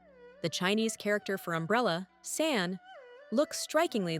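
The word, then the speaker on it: 伞: One of the most enduring is linked to the Chinese word for umbrella, san, which sounds like the word for separation.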